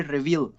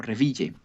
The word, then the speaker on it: Reville: Y también allí conoció a la que sería el amor de su vida, a Alma Lucy Revil o Reville, si lo pronunciamos en castellano, quien trabajaba como montadora